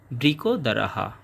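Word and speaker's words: বৃকোদরঃ: এরপর বৃক দারাহা এবং বাক্যের শেষে বিসর্গ থাকার কারণে পুরোহ এর মত একটা সাউন্ড আসবে।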